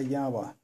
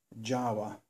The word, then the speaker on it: Jawa: was widely used was a Yawa, or as people in Britain or other parts or English-speaking countries would call them, Jawa, though the proper Czech pronunciation is Yawa.